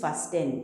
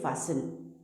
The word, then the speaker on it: fasten: जैसे कि यहाँ पर है FASTEN, we don't read this फास्टेन, इट is wrong English. यहाँ पे पढ़ते हैं फासन, फासन। LISTEN, लिसन, लिसन।